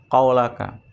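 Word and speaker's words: قولك: Apa qaulaka, Pak? Ucapanmu, firmanmu, maksudnya Allah itu. Qaulaka. Dikasih harokat tuh, Pak. Qaulaka, jangan sampai salah bacanya.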